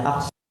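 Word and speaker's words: أخصر: Wa bi ibaratin akhsara, lihat dibacanya akhsara karena mamnu' minas sarfi.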